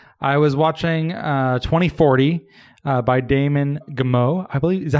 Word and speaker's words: Damon Gameau: I was watching 2040 by Damon Gameau. I believe, is that how you say it, Brian? Damon Gameau? Damon Gameau.